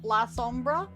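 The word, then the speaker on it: Lasombra: YouTube says it's clan la Sombra.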